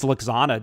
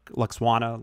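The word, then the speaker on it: Lwaxana: yeah that's uh cause luxanna doesn't look luxuana looks i always say that wrong the hardest name in all the star trek yeah it's a half silent w yeah just says half of it the computer voice that's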